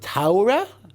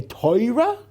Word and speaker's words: Torah: Do you say Torah? Do you say Taura, which is the German pronunciation? Do you say Torah, which is the Polish pronunciation? Do you say Teira, which is the Litvish pronunciation?